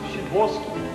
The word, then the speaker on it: Sadowski: Pronounced Shidwolski.